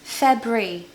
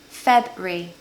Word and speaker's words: February: it's just really confusing it's actually just two syllables February February easy I really don't